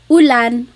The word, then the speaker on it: ulan: So, ulan, u rain and chair. Uh, not like under or umbrella. The letter U in Tagalog has an ooh sound.